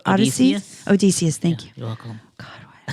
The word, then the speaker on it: Odysseus: Odyssesseus. Why can't I say Odysseus? Odysseus, thank you. You're welcome. God, why? I was like, why am I adding an extra ES?